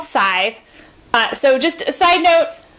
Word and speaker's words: Scythe: it is pronounced aside you don't really say the C at the beginning as a hard C it's just sighs so it's actually what